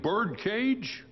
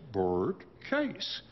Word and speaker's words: Bert Case: me and she said, is your name Bert Cage? And I said, no, ma'am. My name is Bert Case. And she said, well, if you say it like that on television, people wouldn't think you're saying bird cage.